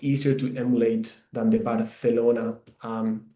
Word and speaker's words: Barcelona: I pronounce it uh it sounds a bit like the th in English like thunder. Um that's how that's why we pronounce here barelona.